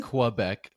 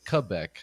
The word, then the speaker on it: Quebec: America would say like qubec but uh but uh I think the local way to say it or the proper way to say it is Quebec more so yeah yeah